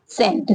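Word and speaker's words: scent: Next है सेंट। सेंट means क्या होता है? इत्र होता है। ओके? यहां पे भी सी को साइलेंट रखा गया है। इसका कोई उच्चारण नहीं किया गया है।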